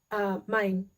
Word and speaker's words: Main: I keep saying that like in English because it's spelled the same way. It's Main in das Mittelmeer.